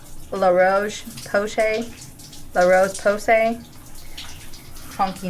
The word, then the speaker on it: La Roche-Posay: Um I am a big fan of I always mispronounce this, but it's called La Roche-Posay.